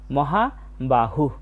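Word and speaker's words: মহাবাহুঃ: মহাবাহু। শুধু মুখ থেকে একটা হাওয়ার মত বের হয়েছে। এরপরে আছে সংখ্যান। বাংলা উচ্চারণের মত।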